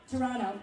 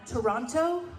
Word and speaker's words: Toronto: I explain to people you're from Toronto when you don't pronounce the second T. Someone was like, "Where are you from?" Toronto. Toronto?